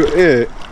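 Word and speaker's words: eher: А есть просто еще «э» – слово, состоящее из четырех букв «и», «ха», «и» и «р». Так как «р» не читается, «ха» не читается, это тоже звучит как «э», и то «э».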